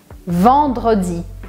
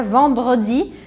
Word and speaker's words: vendredi: Então, recapitulando, temos lundi, mardi, mercredi, jeudi, vendredi, samedi, dimanche.